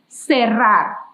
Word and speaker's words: cerrar: Repeat that, cerrar. I know it's a little difficult to pronounce the double R in Spanish, but I am trusting that you could do it.